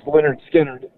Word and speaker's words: Lynyrd Skynyrd: He played brilliantly on the first album, pronounced Lynyrd Skynyrd.